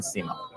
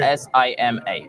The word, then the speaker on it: Sima: My name is Salman Sima. How do you say it? Salman, S-A-L-M-A-N, okay. S-I-M-A.